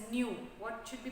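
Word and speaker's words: ν: It is indicated by this term like a V, but it should be pronounced as nu. What should be pronounced? It should be pronounced as nu.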